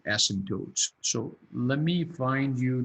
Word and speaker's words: asymptotes: to spell this but you don't pronounce the p right it's asymptotes and what are the